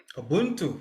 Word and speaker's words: Ubuntu: Did I say it right? Ubuntu? Ubuntu, yes. Ubuntu, OK.